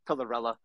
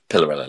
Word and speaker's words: Pillarella: And yeah, we go with more of the American pronunciation, but you did hit it right on the head. You can go with Pillarella. Pretty much sounds how it spells, but Pillarella, love it.